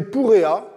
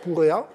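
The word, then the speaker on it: Purea: Les relations deviennent même franchement cordiales lorsqu'entre en scène une femme puissante nommée Purrea, s'écrit P-U-R-E-A, Purrea, qui de toute évidence est revêtue d'un grand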